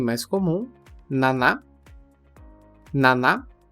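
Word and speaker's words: 七: primeira e mais comum Naná Nana com o cuidado que a pronúncia não é n que nós falantes da língua portuguesa acabamos pronunciando mas Naná Naná já é o próprio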